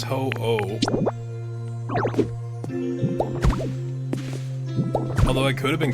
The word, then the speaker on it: Ho-Oh: It's the pronunciation of the name. It is ho-oh.